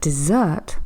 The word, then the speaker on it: dessert: hot sandy Place geography if I'm talking about dessert stressing on the last syllable I'm thinking of A really lovely chocolate pudding that I'm going to have at the end of my dinner that makes a big